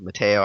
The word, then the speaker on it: Mato: player shout us to Mio also or Mato I'm not sure how you pronounce it it's Mato but uh yeah that's what